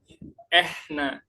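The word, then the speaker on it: إحنا: Kita enggak bilang nahnu, tapi kita bilang apa? Ehna. Ehna itu artinya nahnu dalam bahasa Arab fusha. Kemudian ee hua.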